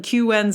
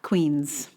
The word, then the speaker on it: Queens: Around here, we call the Brooklyn Queens Expressway the BQE. When this voice told us to take the Brooklyn QN's Expressway, it took me a solid minute to work out what it was talking about.